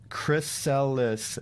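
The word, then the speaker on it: chrysalis: with this piece of paper greek for gold pronounced chris cellis is the pupa stage of the caterpillar also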